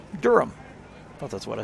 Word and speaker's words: Durham: heavy it says Durham the H is silent yeah Durham well that's what I